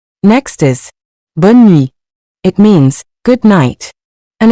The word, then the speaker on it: bonne nuit: Next is bonne nuit. It means good night, and it's used when someone is going to bed or when you're saying goodbye late in the evening. Let's pronounce it. Bonne nuit.